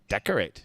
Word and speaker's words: decorate: the first time right three syllables here Deco decorate decorate yeah but when you get used to it the tea is really small decorate very small yeah